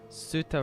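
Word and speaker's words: Tsuta: If it's a T and an S, the T is silent. Like, it's a very light T if you can do it, but 9 times out of 10, you're just going to hear the T silent.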